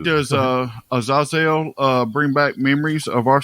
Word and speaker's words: Azazel: That's how you say it. Azazel. Because Azazel or Azazel. On Supernatural, they say Azazel. Yeah. Which is horribly, horribly wrong.